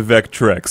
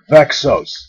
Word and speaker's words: Vexos: will belong to the vectrex it just keeps C all right look it's pronounced vexos okay vexos all right let's try it